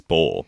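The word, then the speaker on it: Boal: Because Wild Bull, it's spelled Boar, B-O-A-R, but it's Bull, B-O-A-L.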